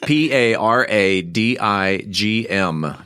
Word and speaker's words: Paradigm: And yes, there is a G and yes, it is silent.